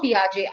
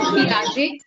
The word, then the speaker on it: Piaget: Jean Piaget. I'm going to type the spelling so that you can eventually, Google him up and learn. Jean Piaget is how we pronounce it.